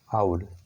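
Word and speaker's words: owl: ठीक है, तो आउल जो है, देखिए इसका प्रोनाउंसिएशन आपको याद रखना चाहिए। इसका प्रोनाउंसिएशन होता है आउल। ठीक है, यहाँ पे एन आएगा क्योंकि ये एक स्वर ध्वनि है आउल की।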